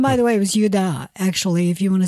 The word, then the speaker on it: Judah: Illinois named Carmine I know that's how they pronounce it and by the way it was yudah actually if you want to say Judah but you know most of us say Judah yeah these were the clans of the zorothites